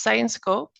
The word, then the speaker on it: Syensqo: you might be wondering what how do I pronounce this so it's science Co and actually the main takeaway here is that